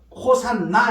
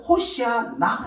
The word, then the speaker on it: 호산나: 맨다는 표현이 나옵니다 그러니 그니까이 호시아 나이 발음 호산나 이렇게 발음하게 되는데 원래는 호시아 나 이런 히브리어 발언입니다 그런데 이것이 이제 구원하소서